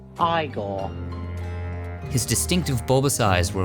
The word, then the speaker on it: Igor: His most iconic role was in Mel Brooks' Young Frankenstein as the good doctor's lab assistant, Igor. No, it's pronounced Igor.